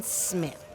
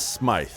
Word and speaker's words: Smythe: have here Detective Jordan Smith, and he has agreed to talk with us. Thank you, Detective Smith. Not a problem, but it is Smythe, spelled with a Y.